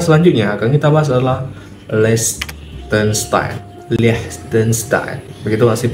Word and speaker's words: Liechtenstein: Nah, negara selanjutnya akan kita bahas adalah Liechtenstein. Begitu nggak sih pronunciation-nya?